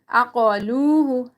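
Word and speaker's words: عَقَلُوهُ: Okay, qaf, you need to read it thicker. Lam, and then waw is silent, and before that there is zamma. So we're going to be stretching it according to one alif.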